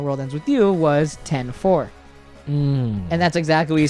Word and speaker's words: 104: But here's the important part: is that when it zooms out, you see the 10-4 building. And yes, that's how you pronounce it, 10-4, not 104.